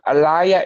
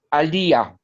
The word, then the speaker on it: Aliyah: My name is not Elia, it's Aliyah.